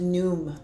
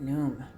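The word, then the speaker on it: Khnum: I think it's just Noom. I think the K and the H is silent.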